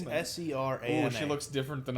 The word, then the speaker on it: Serana: Oh, it's Serena. I'm sorry. How do you say her name? Serana.